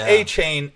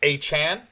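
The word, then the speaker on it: Achane: I'm playing Mostert, and if you picked up, I think we've been saying it wrong, right? It's not A-Chain, it's A-Chan.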